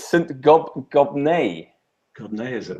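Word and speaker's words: Gobnait: Gobnai. Gobnai, is it? Right. N-A-I-T. That's much more polite than the one I was thinking of. Was born in Ireland in the 5th or 6th century. Gobnai is Irish for Abigail, meaning brings joy.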